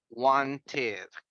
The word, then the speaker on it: wanted: In past is wanted. Wanted. In daily conversations, we don't pronounce the letter T.